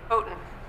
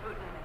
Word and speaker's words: Houghton: How do you pronounce that correctly? Houghton. Thank you. Houghton.